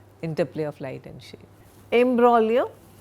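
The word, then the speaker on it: imbroglio: Embraio G is silent. a violent and complicated quarrel. I got into the imbolio without any uh playing any an active role in it but I got dragged into it.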